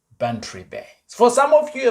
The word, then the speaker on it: Bantry Bay: Yeah, am I pronouncing that correctly? Yeah, Bantry Bay.